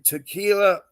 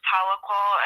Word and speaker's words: Tahlequah: It's headquartered in Tequila, Oklahoma. Have you been to THLEQUAH, Oklahoma? Yeah, it's pronounced Tahlequah, and that's where all our court proceedings have been, is in right.